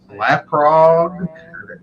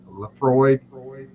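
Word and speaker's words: Laphroaig: This is a barrel aged beer, but it's barreled in, I want to say, Laprog. It's L A P Oh, Lafroy. LAPHROAID. Yeah, Lap. that's Lafroy. That's a Is it Scotch Lafroy?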